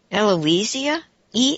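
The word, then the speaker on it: Elousia: do you say it l think Eloise is Eloise iya elo us I a yeah I'm going to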